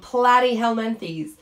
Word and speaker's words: Platyhelminthes: we have the phylum platyhelmanthes and i do say it like platty because it kinda sounds like flatty right these are your flatworms